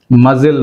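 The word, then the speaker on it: muscle: మజిల్ మజిల్ అంటాం. Right, మజిల్. యాట్ యాట్లు ఇందులో సి is silent.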